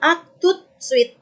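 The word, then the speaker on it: à tout de suite: Kalau satu-satu a, tu, de, suite. Kalau pelan-pelan. A, tu, de, suite. Sambung bacanya jadi a tout suite.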